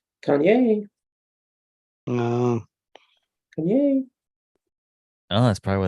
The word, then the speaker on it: Kanye: yeah and I realized we were all saying the name wrong she puts that this is on the last syllables so she was like Kanye um oh that's probably